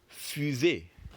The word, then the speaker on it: fusée: Fu, which is 1, and zé, which is the second.